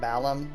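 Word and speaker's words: Balamb: this would have been how do you say Balam do you say belong how do I have always said belong yeah I say belong to I've heard people say like Balam it kind of depends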